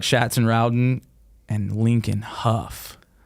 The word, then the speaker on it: Hough: And they're like, no, it's Huff. Huff. And we're Rhymes with like tough.